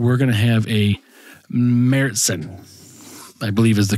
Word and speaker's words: Märzen: It is MARE Mertsen is the correct pronunciation. Martzen? Mertsen. However, in the United States, it's often pronounced as Martzen with a hard T sound.